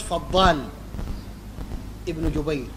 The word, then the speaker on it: فضال بن جبير: قال الهيثمي في مجمع الزوائد رواه الطبراني وفيه فضال بن جبير وهو ضعيف. شوف النطق الصحيح زي ما نطق أخونا معتز فضال ابن جبير ده اسمه صحيح.